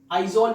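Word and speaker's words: Aizawl: है वो है आइजवाल, आइजोल भी इसे कहते हैं। इसकी प्रोनाउंसिएशन आइजोल ही है मेरे ख्याल जो उनकी लैंग्वेज में है, लेकिन हम लिखते इसको आइजवाल है, AIZWAL, आइजवाल, लेकिन आइजोल इसे उनकी लैंग्वेज में कहते हैं।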